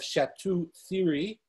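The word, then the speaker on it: Château-Thierry: next we have uh shmuel then solomon of shatu theory that's how you pronounce it um another french tosuphis and finally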